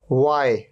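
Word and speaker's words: why: Technology, technology, H यहां पर silent है। वाई, यहां पर एच से पहले क्या आ रहा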